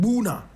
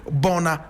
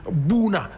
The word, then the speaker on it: Bouna: Now, when you go to the Ivory Coast, there is a small town there called Buna.